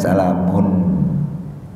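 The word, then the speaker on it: سَلَامٌ: Dengar bang, kalau abang belajar dengan guru, itu salamun memang aslinya bacanya pakai N, salamun.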